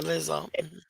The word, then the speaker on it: Lizzo: people who are very angry at is it lizzo is that you pronounce the name yeah lizzo they're angry at lizzo okay i personally know